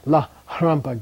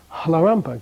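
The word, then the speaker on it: Lharampa: It's not a la harampa geshe, it's a halarampa geshe.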